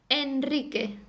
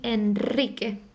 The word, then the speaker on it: Enrique: as well for example the name Enrique it goes after an N so the Rick is gonna sound strong okay and Enrique it wouldn't be Enrique it would be Enrique for example the end